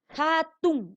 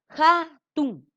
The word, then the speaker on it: hatun: Hatun, ¿ya? Hatun. Muy, ¿no es cierto? Suena como J al inicio, pero la escritura va a cambiar con H, ¿ya?